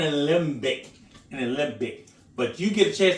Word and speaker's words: Alembic: I said it right, an alembic.